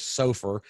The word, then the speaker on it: SOFR: you say it LIBOR and then what is Sofer sof r and the LIBOR is Li Bo